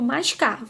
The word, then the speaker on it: mascavo: Agora vamos descobrir aí do mascavo. Então vamos lá. Mascavo. Bom, já descobrimos que foi o K. Foi a sílaba tônica, aquela que demorou mais tempo, né? Ali ficou mais forte, né?